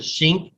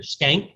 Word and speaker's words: Schenck: Also a man by the name of Schenck will oppose it. Some people pronounce it Schink, I think, or Skank, or whatever.